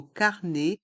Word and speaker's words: carnet: Les lettres E et T du mot carnet et du mot ticket se prononcent E.